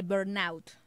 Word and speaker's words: burnout: quemado y también el síndrome de burnout. ¿Lo pronuncié bien? Perla, bienvenida. Hola, Lau, ¿cómo estás? Sí, lo pronunciaste súper bien.